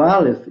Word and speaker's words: Aleph: Então, o Aleph é uma letra muda, sem som, mas ela é muito utilizada, é uma consoante.